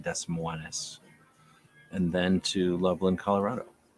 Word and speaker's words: Des Moines: Sorry, it's pronounced Des Moines.